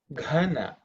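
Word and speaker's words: घन: So in this case, Gana, Ga is Alpa Prana, Gha is Mahaprana. Gana and Ghana.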